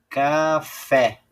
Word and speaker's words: café: Café. Viu? Terminou na letra E, como pede a questão. Ó. Terminou na letra E. E ela é oxítona porque a sílaba tônica é a última.